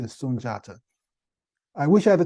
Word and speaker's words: Sunjata: the founder of the Mali Empire sunjata sometimes pronounced sundata but it's the correct pronunciation is sunjata I wish I had the time to go